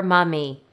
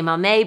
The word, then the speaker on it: momme: of the word mame you'll hear people pronounce the words as either mame or mommy we say mame because that's the way our lead weaving engineer says it mame is a unit